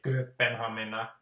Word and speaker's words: Kööpenhamina: Yeah, the P sounds strangely dominant in how I say it, Kööpenhamina. It almost sounds like a double P, sorry, but surely it can't be. So anyway, Kööpenhamina.